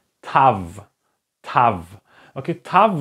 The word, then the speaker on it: Tav: And this one is called Tav. Tav. Okay, Tav, like in the first part, if you can remember, we had the Tet. And the Tet and the Tav have exactly the same pronunciations.